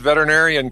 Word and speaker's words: veterinarian: But you said veterinarian correctly. That is a very hard word to say and probably half of veterinarians don't even say it correctly because they'll they'll they'll clip off one syllable.